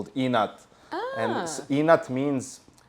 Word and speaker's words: inat: Yeah, it's actually spelled in like I-N-A-T, but at the boot camp we wrote it E-N-A-T because you would pronounce it like we would say it, inat with an E, right?